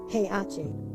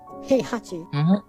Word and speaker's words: Heihachi: because for example um in my language the second age because it's in the middle of a word is actually not pronounced so if you go and speak for the portuguese person that doesn't know the japanese pronunciation they will say hey achi just in one go heihachi because you don't pronounce in the middle nor of course this is japanese we're talking about heihachi you actually pronounce it do i need to